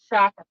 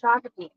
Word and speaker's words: Shakopee: So Shakopee. Not Shakopee. No, I said it wrong last time. I said it wrong a lot. I have to. So Shakopee.